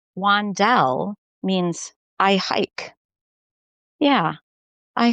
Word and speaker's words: Wandell: my last name and she pronounced it correctly, Wandelle. And I said, "Most people kind of put the emphasis on a different syllable."